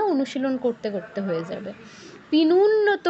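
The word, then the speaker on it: পীনোন্নত: পিনুন্নত কেউ বলবো না, কি বলবো? পিনোন্নত, ও উ নয়, ঠিক আছে?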